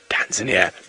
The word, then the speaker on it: Tanzania: language lesson for you there's no such place in the world is Tanzania it does not exist it has never existed it shall never exist the correct pronunciation is tanzania so it is it